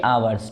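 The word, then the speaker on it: hours: तो ये क्या हो गया 8 आवर्स, ठीक है। ये हावर लिखा है बच्चों, मगर इसे हम क्या पढ़ते हैं, आवर्स, ठीक है, एस साइलेंट होता है यहाँ पर।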